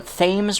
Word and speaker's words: Thames: island new new london which is on the thames river yes it is pronounced like that yes it was very confusing